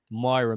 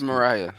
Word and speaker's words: Mariah: with this P star Myra Mills, and he was messing with her. Myra Mills. I think that's how you say her name. Okay, all right. She is cute. It's Mariah. It's Mariah.